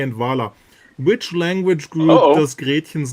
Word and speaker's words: Gretchen: It's Gretchen. Okay? Yeah, because if you pronounce it Gretchen, it's a little tiny fishbone, right?